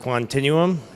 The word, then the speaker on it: Quantinuum: I'm the president and Chief Operating Officer of Continuum that's how you pronounce it Continuum so thank you uh we are uh we're